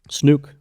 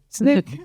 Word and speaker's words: snook: And how did the locals say it? Snook. Snook. Snook.